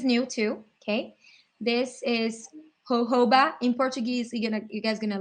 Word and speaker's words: jojoba: And they wrote it down like jojoba, jojoba, but it's jojoba, okay?